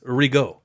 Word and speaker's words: Rigaud: It's French, so it's Rigaud.